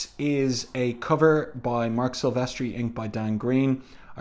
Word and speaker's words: Silvestri: signature with his um surname in three syllables sylvestri and then there's only